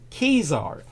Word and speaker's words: Caesar: uh the Julian calendar which Julius Caesar uh correctly pronounced kesar introduced in 45 years